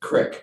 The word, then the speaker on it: creek: Cross Creek was the one where, Crick, come on, say it like we do.